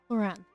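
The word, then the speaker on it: Clorinde: Cloran. So that's how you pronounce the name.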